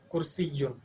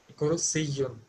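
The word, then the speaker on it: كُرْسِيٌّ: Not she, it is si. Kursiyun. Okay. كرسي. Okay. With sin sound, not sh. It is sa. Okay. Kursiyun.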